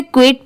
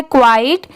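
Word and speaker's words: quiet: बहुत सारे लोग इसे क्विट पढ़ते हैं बट वो रॉन्ग होता है। इसकी सही प्रोनंसिएशन है क्वाइट।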